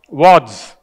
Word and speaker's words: Wadds: Wadds. There you go. That's how you pronounce it, ladies and gentlemen, of Wadds, Inc.